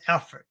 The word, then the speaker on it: Alfred: watching this back later I've been calling it Albert so that maybe that's what maybe that's why it's heading this way it's angry everyone's getting this name wrong so it's Alfred all right we'll have